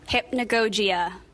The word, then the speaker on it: Hypnagogia: Hypnagogia, hypnagogic, hypnagogic, hypnopompic, hypnopompia.